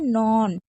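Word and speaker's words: known: नॉन मैंने बता दिया के साइलेंट रहता है।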